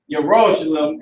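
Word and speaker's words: ירושלים: So now, Yerushalayim is how you say Jerusalem in the Hebrew.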